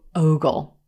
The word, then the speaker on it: ogle: will look at this word and want to pronounce it Olive sock Ogle Ogle but it's actually Rose Boat o Ogle Ogle and this means to look at someone